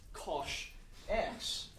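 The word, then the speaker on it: cosh: of functions believe it or not this is pronounced Kos X and I think from memory they Define it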